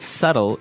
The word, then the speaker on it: subtle: right so this word subtle is actually spelled s u b tle e but the B is silent that's right so we